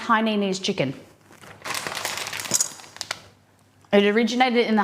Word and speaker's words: Hainanese: It's pronounced Hainanese chicken.